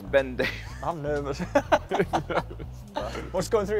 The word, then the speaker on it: Ben Davies: How does Ben Davis pronounce his name? Ben Davis.